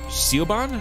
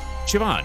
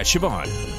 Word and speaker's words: Siobhan: hallway from earlier oh interesting okay huh uh seal bond i think it's siobhan siobhan it's pronounced yeah siobhan again told you i'm irish hey lmcp how